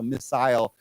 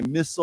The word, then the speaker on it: missile: can pronounce the I the second eye is an long eye so missile but a lot of people say missile or missile either either one is okay okay yeah ballistic missile